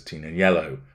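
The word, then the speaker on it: Tignanello: inspired by the full-bodied red wine known as Tina yellow which of course makes no sense whatsoever because it's a silent G no announcement has been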